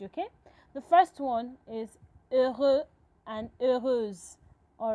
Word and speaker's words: heureux: And before I go on, in French language, the letter H is silent when you're pronouncing words. So it's not heureux, it is heureux. You pronounce from the E.